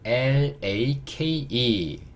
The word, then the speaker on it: lake: 이번에는 L-A-K-E. L은 여전히 real, A도 여전히 A. K는요 Q, E는요 묵음.